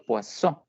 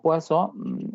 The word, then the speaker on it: Poisson: probabilidad de Poisson, como se escribe, pero se pronuncia Poisson, ¿listo? Entonces, sea de Poisson o se pronuncie bien como Poisson, es la distribución que nosotros vamos a desarrollar.